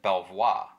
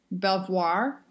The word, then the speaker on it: Belvoir: an e then yeah i don't think you pronounce the r that sounds very fancy